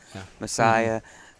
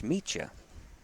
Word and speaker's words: Meccia: And of course, but Otto Meccia, and he's probably been called his last name Messiah, but it's Meccia, and Otto, he's open,